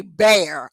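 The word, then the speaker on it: Bexar: Texas see B X A R and say bear.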